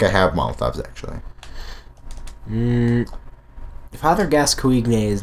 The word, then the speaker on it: Gascoigne: Now, some people have said that it's pronounced Father Gascoigne. Gascoigne. But that is actually not correct. It's actually pronounced Father Gascoigne.